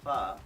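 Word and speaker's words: phở: That's a little history about pho and colonization. More of the story. How do you pronounce pho? Not pho, or pho. Pho, as in you're asking a question.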